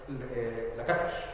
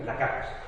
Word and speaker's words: Lakatos: y también por Imre Lakatos, que en realidad es húngaro, se pronuncia Lakatos, pero como para evitar el chilenismo o la mala interpretación, así, Lakatos, simplemente. Tiene su modelo también, que